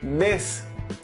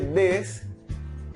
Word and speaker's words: des: Si tú quieres decir unos o unas, es la palabra des. Se escribe des, pero se pronuncia de.